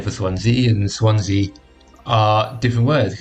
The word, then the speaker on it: Swansea: it says this so apparently it is swans e not swans C if you can hear